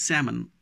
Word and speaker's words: salmon: today pronunciation silent so L is silent in all these words first word is salmon as al mo n